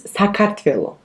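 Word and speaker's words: Sakartvelo: like that yeah but in georgia our name is pronounced like differently okay like very differently so our country's name is sakatville one more time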